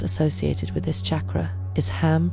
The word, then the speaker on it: HAM: The Sanskrit seed sound associated with this chakra is ham pronounced h a hm.